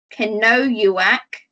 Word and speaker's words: Kenojuak: ashevak so the jeff the j in her first name you don't make the j sound we make a yi sound can know you wack ashevak see if you